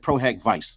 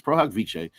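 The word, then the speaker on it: pro hac vice: something like that and she said proh vice. Now darling, it's proh viche is a Latin phrase meaning for this occasion.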